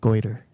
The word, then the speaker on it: Goiter: Goiter. Goiter. It's Goiter. not spelled that way.